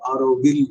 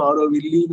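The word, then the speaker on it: Auroville: அதே மாதிரி நமக்கெல்லாம் தெரிஞ்ச மிகச்சிறந்த ஒரு உலக உதய நகரம் வந்து ஆரோவில். அதுல வந்து எல்லு உச்சரிக்கணும். அது ஈல முடியும். சில பேர் விஷயம் தெரியாம ஆரோவில்லின்னு அதை வில்லி ஆக்கிடுவாங்க. அந்த ஈ இருக்கிறதுனால தெரியாம உச்சரிப்பு தெரியாம.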